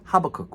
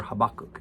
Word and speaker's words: Habakkuk: reading right now is known as habakkuk or habakkuk it's a you pronounce it either way you want but this Prophet